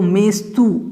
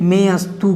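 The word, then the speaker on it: मेऽस्तु: में आप देखें तो मेस्तु ऐसा है, मेस्तु। तो यहाँ पर मेस्तु जो है उसमें अवग्रह का उच्चारण आपको नहीं करना है।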